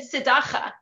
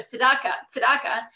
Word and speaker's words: Tzedakah: He said Dvar Torah, Chesed, but he said Tzedakah instead of Tzedakah.